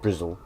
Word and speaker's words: Bristol: doing all right so bristol slang which itself is normally pronounced brizl the key word is